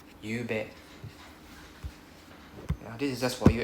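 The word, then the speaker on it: ゆうべ: So it's pronounced as Y u U B E. You bet.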